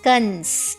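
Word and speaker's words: कंस: A dot, kang. That is Kans.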